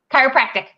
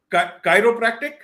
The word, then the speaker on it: chiropractic: hero practice thing if I'm pronounced am I pronouncing it correct Chiropractic Chiropractic yep okay okay good thank you so Chiropractic